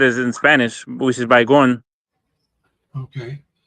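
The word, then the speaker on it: Baygon: in Spanish, which is bygon. Okay. By like the city like bye-bye and then go instead of like saying gone.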